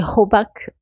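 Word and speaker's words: 호박: Donc c'est hobak en coréen, H-O-B-A-G ou B-A-Q, un des deux. Mais le H, il n'a pas été prononcé comme un H. Il a été prononcé comme un G ou un K.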